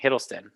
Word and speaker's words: Hiddleston: as an actor tom hiddleston that's how you pronounce the name hiddleston loki we all know him from loki from